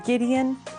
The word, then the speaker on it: Gideon: exceptions for example Oh words that are from German quite often for example girl we have the hard G or you have like proper names from Hebrew such as Gideon so just a couple